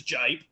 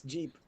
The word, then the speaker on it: Jeep: So, here's Jip. And that is the weirdest way how to mispronounce Jeep.